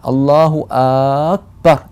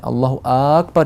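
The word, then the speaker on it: الله أكبر: 자, 알라후 악발 이렇게 발음을 하는 경우가 많이 눈에 띄어요. 그렇게 많이 들리고요. 그렇지만 정확한 발음은 알라후 악발 이렇게 장음을 내는 것이 아니고 알라후 악발 이렇게 아가 단음으로 들어가야 돼요.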